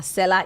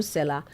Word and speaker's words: Selar: Seller is spelled SELAR.